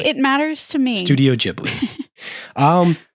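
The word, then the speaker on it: Ghibli: but he calls it with a hard J J I think that I don't know if that's soft or hard but the actual Japanese pronunciation is more like jiy okay Studio jiy okay but whatever it doesn't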